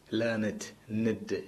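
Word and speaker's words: learned: done എന്നുള്ള ഒരു കോപ്പിയാണ് പക്ഷെ തനിച്ച് ഒരു അഡ്ജക്റ്റീവ് ആയിട്ട് പറയുമ്പോൾ ഹാവ് ഹാസ് ഇല്ലാതെ പറയുമ്പോൾ ഹി ഈസ് എ ലേർണറ്റ് മാൻ ലേണിഡ് നെഡ് okay അങ്ങനെ പറഞ്ഞു പഠിക്കണം ഓക്കേ മൂന്നാമത്തെ നോക്കിയേ ഗെറ്റ്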